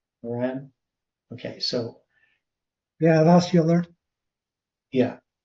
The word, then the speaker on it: Euler: Yeah, that's Euler. Yeah, pronounced Euler.